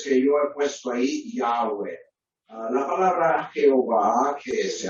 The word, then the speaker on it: Yahweh: Y por eso entonces creo que la pronunciación Yahweh o Yahvé es más acertada que la forma que tenemos en Reina Valera.